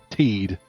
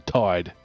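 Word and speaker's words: Tidus: Like, it's an ocean-themed game, and his name has T-I-D in it, and you're telling me it's pronounced Teed rather than Tide.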